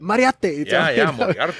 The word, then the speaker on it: Moriarty: art is the secret used to say instead of moriarty bingo yeah and he would constantly tell me that because i'd say hey we're going to moriarty i'd be like don't wipe that up say it mariate okay okay so this